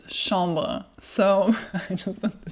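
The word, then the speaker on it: chambre: to say chamber and it's not the chamber in French it's shamba so I just want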